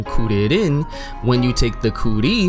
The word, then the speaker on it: Kuririn: Krillin, or for his original pronunciation, Kuririn, when you take the